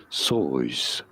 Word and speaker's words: Seuss: However, the author himself said his name should be pronounced as Sois.